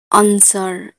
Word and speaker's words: answer: अगर एस के बाद डब्ल्यू आए तो डब्ल्यू साइलेंट होता है। आंसर, ANSWER, आंसर, आंसर में एस के बाद डब्ल्यू है तो डब्ल्यू यहाँ पर साइलेंट है।